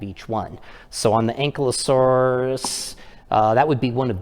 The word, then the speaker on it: Ankylosaurus: Of course, here in America, some people call it Ankylosaurus, but over in the UK, they pronounce it Ankylosaurus, and I believe that's the more proper pronunciation.